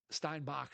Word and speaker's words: Steinbach: Uh, and then John Steinbeck, Steinbach, sorry, Steinbach. Steinbach if we go with the German pronunciation since I always criticize you for Schroeder versus Shruder.